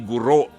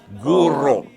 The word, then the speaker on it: guru: kabataan ang tawag ni ang pronunciation nila ay guro guro Opo oo hindi po ang tamang pronunciation yan Kung nabubuhay si chelli mababatukan kayo e Guru ang teacher ay Guru Ayan sige Ano ang